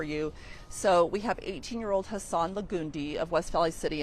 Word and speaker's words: Hassan: So we have 18-year-old Hassan Lagundi of West Valley City, and he's the one who appeared to have been the suspect's primary target. Hassan is Hassan.